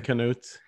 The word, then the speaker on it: Knut: i believe right king knuts they english speakers tend to pronounce my name knut which which is fine fine with me okay i'm a so welcome to